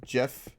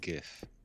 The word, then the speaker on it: GIF: and b to you instead of uh gif it's uh uh jeff or whatever like everyone pronounces it jeff it's even if it's not wasn't even what it was intended that's never going to change it is most definitely gif a lot of people pronounce it jeff by the way maybe